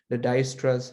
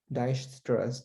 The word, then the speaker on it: Dijkstra: So this is pronounced probably as Dijkstra's. J is sort of silent.